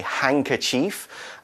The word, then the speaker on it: handkerchief: which contains and a hankerchief okay the word hankerchief is spelled H a.m. d ke r CH IE f a long one hankerchief we don't really pronounce the d SE hankerchief it is a square